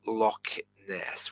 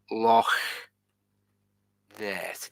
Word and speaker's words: Loch Ness: you ever been to Lochness well it's not actually Lochness it's pronounced like this Lo this it's two separate words Lo this and I